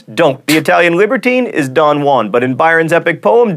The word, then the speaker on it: Don Juan: then contract otherwise don't the Italian libertine is Don Juan but in Byron's epic poem Don jwan rhymes with ruin you would not explode in the